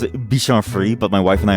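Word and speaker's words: Bichon Frise: I think he's a bitch on fries. I know it's pronounced bitch on free, but my wife and I always like to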